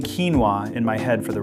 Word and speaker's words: quinoa: Just 2 syllables, pronounced quinoa.